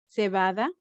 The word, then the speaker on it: cebada: CA, cama, CE, cebada. What did you see here? CA is pronounced ca, cama. Like this is bed in English, cama. So here we see CE, the pronunciation is ce, cebada.